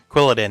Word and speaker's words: Quilladin: Quilladin, that's how you pronounce it.